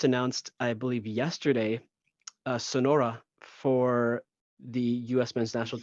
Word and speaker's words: Sonora: the pronunciation of Sonora it's not Sonora it's Sonora just so you know there there we go he's not Mexican he's not Sonora it's he's Argentine Sonora anyways um also I